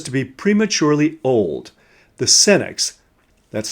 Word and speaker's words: Senex: So today we're going to explore the archetype which, not well managed, can drive us to be prematurely old, the Senex, that's spelled S-E-N-E-X, which is Latin for old man.